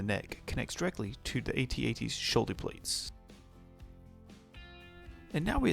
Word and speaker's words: AT-AT: The all-terrain armored transport, better known as AT-AT, and yes, that's how it's pronounced, I don't care if Mark Hamill pronounces it AT-AT.